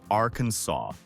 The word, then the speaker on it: Arkansas: It must be Arkansas with a silent s.